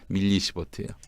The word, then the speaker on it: 밀리시버트: 마이크로가 아니라 밀리시버트예요.